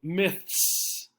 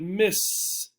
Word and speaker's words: myths: s is particularly difficult you really have to make sure you pronounce the th so myths myths right pay attention to how your mouth is moving myths myths okay if you don't say the th it might sound like miss miss but that's a different word okay so again how